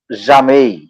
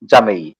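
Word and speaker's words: jamais: আচ্ছা, এরপর হলো জামেই, নেভা, কিন্তু জেম নয়, হ্যাঁ জামেই, জামেই উচ্চারণ জামেই না, জামেই, জামেই মানে মিন্স নেভার।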